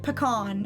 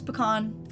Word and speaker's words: pecan: Like pecan, it's pecan, not pecan. No. Pecan. Yeah. Or yeah, like, I say pecan.